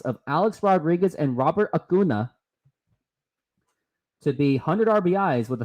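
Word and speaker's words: Acuña: to get 100 I guess is it Robert Asuna or Robert auna here's the pitch and just outside gonna look up how I pronounce Robert auna right and here is the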